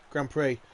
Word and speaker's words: Grand Prix: Grand Prix. I forget the X is silent sometimes.